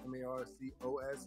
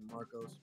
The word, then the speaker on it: Marcos: So my name is Marcos, M-A-R-C-O-S. It's actually Marcos, but I pronounce it Marcos.